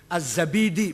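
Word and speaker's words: الزبيدي: Az-Zabidi, bukan Zubaid, Zabid.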